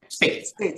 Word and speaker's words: Spaeth: So my question to you, your expert witness, and how do you pronounce it, Dr. Spaeth? Is that how you? Spaeth. Yeah. Okay.